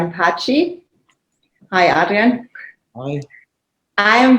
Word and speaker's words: Paci: Yes, but my surname is actually Paci. Paci. Oh, I'm sorry. So Adrian Paci, not Italian pronunciation, but Albanian.